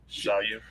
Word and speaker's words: Xiaoyu: Xiaoyu.